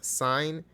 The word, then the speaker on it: sine: in mind is that the way it's written and the way you say that's different Okay so as a function It's s i and sin or cos cos but this is pronounced as sine and this is pronounced